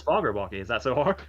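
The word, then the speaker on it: Fagerbakke: Yeah, it's Foggerbalky. Is that so hard? Foggerbucky. Ask Snoop Dogg. True. He butchered Villeneuve's name worse than I have ever done in a million years.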